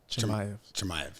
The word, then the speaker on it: Chimaev: Chimaev.